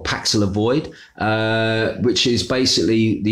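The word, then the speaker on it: Paxlovid: drug which is called uh pallax void i think that's how you pronounce it or paxila void uh which is basically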